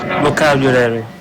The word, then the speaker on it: vocabulary: So first we need to get the syllable stress. Vocab. Can you say vocab? Vocab. And then you. You. Vocab you. Vocab you. And then Larry. Vocabulary.